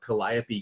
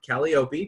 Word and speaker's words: Calliope: Weir's who is the owner of Calliope games not Kelly Opie make sure to pronounce it correctly right it's okay calculon's